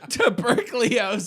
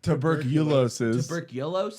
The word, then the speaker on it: tuberculosis: 100 what it is to berkeley tuberculosis he said it wrong he just added the college broccoli in the middle wait is it tuberculosis what is it it's tuberculosis yeah yeah to berkeley